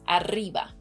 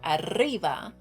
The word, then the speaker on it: arriba: was able to pronounce arriba. So the double R or rolled R, arriba, and that's very good because that sound, that particular sound, is always very hard for non-native Spanish speakers, especially English speakers, because